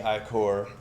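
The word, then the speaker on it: ichor: well just hands down into bloody i-core which I hate is that is pronounced that way I always say acre yeah cooler you grab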